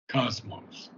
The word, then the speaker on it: Cosmos: B Cosmos Cosmos okay Cosmos accent being the first syllable Cosmos not Cosmos Cosmos